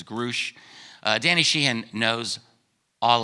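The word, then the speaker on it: David Grusch: to pronounce his name I didn't know if it was grush or grou but Danny called me he said it was Grouch uh Danny shean knows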